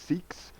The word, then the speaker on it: SCCX: 7th one, 8th one on the left column, Mythical Plus SCCX, pronounced Seeks.